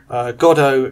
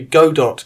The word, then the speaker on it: Godot: experiments into playing with the gato game engine or sorry so should we go dot game engine I think it's pronounced which I've been looking